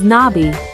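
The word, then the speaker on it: 나비: butterfly the Korean word for a butterfly is pronounced as Nai the n Sound is soft and elongated followed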